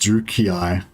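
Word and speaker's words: Druchii: their name is pronounced the name is pronounced drew kei the evil roman canadian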